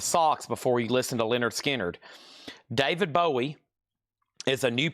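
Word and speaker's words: Lynyrd Skynyrd: And then Leonard Skard, which is pronounced Leonard Skard, another analog production 2 LP 45 RPM.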